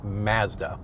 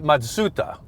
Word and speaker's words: Mazda: In Canada, it's pronounced Mazda. Yeah. In the United States, it's called Mazda. Both are wrong. It's actually Matsuda, is how the Japanese say it.